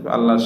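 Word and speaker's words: الله: মোটা উচ্চারিত হয়, কিন্তু আল্লাহ শব্দের শুরুতে জের হলে আল্লাহ শব্দটি পাতলা করে উচ্চারণ করিতে হইবে।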